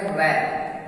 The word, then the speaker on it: wrap: देखिए जैसे है WRAP, तो W शुरू में है उसके बाद R है तो W साइलेंट रहता है तो इसको पढ़ेंगे रैप।